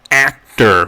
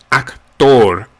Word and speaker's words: actor: We're pronouncing it in Spanish actor, actor, not act or act. It's almost as if the A is pronounced more like an O in October.